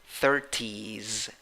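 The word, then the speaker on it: thirties: Number 5, 8 letters, 7 sounds, 2 syllables. The first syllable is the stressed syllable. You have a schwa there, In the second syllable, you have E with a hat. That means E, strong, long E. Even though it finishes in S, when you write it, the pronunciation finishes in Z. 30s, 30s.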